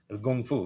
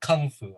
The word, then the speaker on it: kung fu: fu in chinese like i always heard kung fu like gung-fu yeah exactly i always hear kung fu americans say kung fu i'm like kung fu yeah that's completely wrong well it's i mean